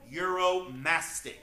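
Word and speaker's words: uromastyx: very odd 70 name this is the Egyptian euromastic that is spelled u-r-o-m-a-s-t-y-x we call him Muro for short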